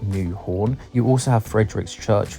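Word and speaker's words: Nyhavn: Now if you look at the spelling, I know it looks like Nyhaven, but it's actually pronounced something like New Horn.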